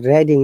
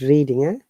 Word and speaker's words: Reading: operating uk very good it is reading not reading because it isn't now not reading reading is a verb university of reading not real reading yes but the boy is reading the book then it's